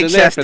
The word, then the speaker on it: Leicester: How you pronounce that, Omar? Okay, y'all. Leicester, motherfucker, Leicester.